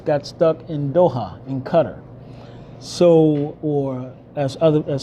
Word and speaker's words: Qatar: some of us got stuck in Doha in Qatar so or as other as some people as some pronounced in Qatar so I was one of the ones that